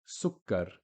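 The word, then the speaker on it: سكر: Sukkar, you can hear the kaf being pronounced twice, the k sound. Suk, that's the first one. Kar, the second one.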